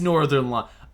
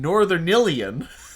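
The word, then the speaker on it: Northernlion: So his name is Northern Lion. Oh my god! I'd never heard his name pronounced before. I've been calling him Northernilian.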